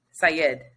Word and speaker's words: Syed: I listened to it yes so Mr Syed Syed is how you pronounce it was released from prison this week